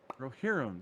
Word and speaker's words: Rohirrim: Rohirrim, that's it.